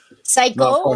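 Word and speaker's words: 最高: That's our friend and Psycho, like in Japanese. Psycho, like super cool. Yeah, Paul, you might not know that, but psycho in Japanese means awesome. It's spelled Saiko, but psycho.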